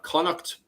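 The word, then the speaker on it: Connacht: Uh, the pronunciation of these, by the way, is if you look at the very north there in the green spot, uh, you have Olster. Then in yellow, we have Conuct.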